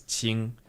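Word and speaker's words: Qing: correct but it's just that character on its own is Ching which is a flat tone but here it's written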